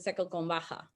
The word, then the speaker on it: seco con vaca: mixed with cow milk, thus the name seco con vaca, but they pronounce it seco con Baja.